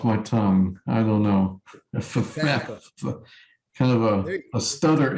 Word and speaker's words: Ephphatha: And it is F-E-P-H, Uh-huh. and make it like a double F sound. F-F-A. Ephatha. Yeah. It's like a double F sound after E.